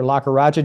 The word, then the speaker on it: Lakkaraju: Lakaraja, did I pronounce that correctly?